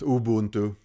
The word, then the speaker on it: Ubuntu: have a linux inside windows i'm running a ubuntu so i think i mispronounced that it's uh supposed to be just ubuntu but ubuntu release of linux here and uh